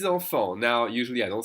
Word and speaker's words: enfants: 6 enfants. And of course, with the word enfant, you don't hear the TS. The AN together is pronounced en.